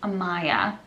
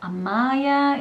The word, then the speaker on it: Amaya: martinez it sounds great in slovakia they would be able to pronounce it because we do have a maya basically it's not amaya it's it's similar it's like a little shorter i mean there is a little bit of difference like when i say this slovakian it's amaya yeah they would probably call her amaya uh but in english it's amaya so i prefer the english